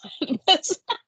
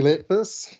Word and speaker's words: Letfus: Oh, let me say your name wrong first. Let's Letfus. Let's make a fuss.